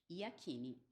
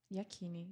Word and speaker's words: Yakini: n de navio I yakini yakini gente da maneira como se lê da maneira como se lê exato vou agradecer mais uma